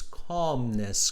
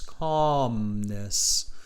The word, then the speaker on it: calmness: the pronunciation students it's calmness calmness okay so calmness we don't pronounce that l right it's a silent l it's calmness all right um because